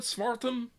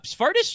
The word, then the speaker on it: Spartus: And approximately how far would Smartum? I pronounced that wrong. Spartus, if you wanna, Spartus.